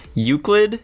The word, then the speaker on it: Euclid: Secondary class, Euclid? Is that how you pronounce it?